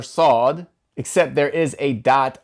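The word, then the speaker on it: ص: we learned that the letter saad sounds like a heavy version of the English letter S, and therefore we put a little dot underneath the S for the transliteration as if there is an extra weight making that S heavy.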